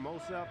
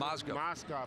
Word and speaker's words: Mozgov: And then the big kid that they just brought in, Mosef, I think is how you pronounce it. Mozgov.